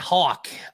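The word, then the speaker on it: Hauck: the important thing yeah is this name uh hawk is that how you say his last name yeah that's how you say it hawk okay cause i've been saying hack i've been saying hack yeah i said that before when it first came out but it's actually hawk yeah okay hey guys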